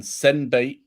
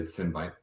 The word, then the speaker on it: Sinbyte: It's like sin.